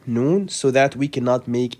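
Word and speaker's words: نون: Okay, as we said in a previous episode, the way to pronounce Noon, you just let the tip of the tongue touch the upper gum behind the upper incisors, like this, N.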